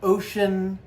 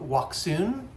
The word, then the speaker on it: Wouxun: Wo Ux N, but I've been told it's pronounced ocean, right? I don't speak Chinese, so I wouldn't know. Some people call it waxon or waxon, but ocean, I think,